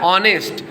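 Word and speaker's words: honest: हम क्या बोल रहे हैं, एच साइलेंट कर देना, क्या बोल रहे हैं इसे, आवर, इसे क्या बोल रहे हैं, ऑनेस्ट, इसे क्या बोल रहे हैं, एयर।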